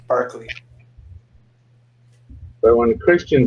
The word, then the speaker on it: Berkeley: Berkeley is actually pronounced Barkley.